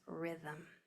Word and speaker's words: rhythm: First we have RH, that silent letter pair, I v. Since it's a Greek word, that I sound is going to be spelled with a Y. There's rhythm.